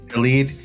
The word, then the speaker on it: Khaled: I've never know how to pronounce Khaled. Khaled.